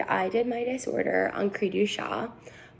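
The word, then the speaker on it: cri du chat: did my disorder on creedu shah it's a french descent which is where the name comes from but a lot of people tend to mispronounce it as creature chat because that's how it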